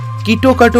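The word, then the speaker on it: キットカット: পেছনে রয়েছে কিটক্যাটের নাম আসলে জাপানে কিটক্যাট কেটোকাটো প্রোনাউন্স করা হয় যার সাথে জাপানি শব্দ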